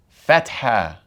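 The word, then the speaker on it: فتحة: That is called a fatha, which sounds similar to the English A.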